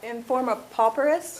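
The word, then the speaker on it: forma pauperis: for because that's Latin and I can't really pronounce it form a popperous that's right correct and at I'm not a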